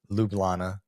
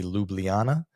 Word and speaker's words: Ljubljana: as if we uh we have been pronouncing the capital Ljublana the the wrong way. So, it appears to be, at least to most English speakers, that it should be Ljubljana.